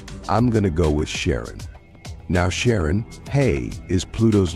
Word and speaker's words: Charon: the most mysterious one Chiron also pronounced Sharon so you can pronounce it however you like I'm going to go with Sharon now Sharon hey is